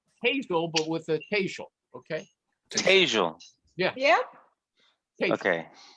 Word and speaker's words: Tejal: How do you pronounce the name? Tejal. Just like Hazel. Hazel, but with a Tejal.